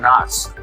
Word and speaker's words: Knox: The interesting thing about Fort Knox is that the K is silent.